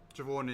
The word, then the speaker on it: Siobhan: Siobhan is the one spelled with a B.